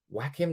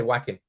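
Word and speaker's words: Joachim: are so unoriginal though Whack Him low is It Whack Him low how do you say joim low I say whacking just because whacking Phoenix whacking or low just call him low everybody is talking about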